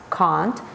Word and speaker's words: can't: negative contraction is can't in British English it's pronounced can't but in American English it's Kent um foreign English American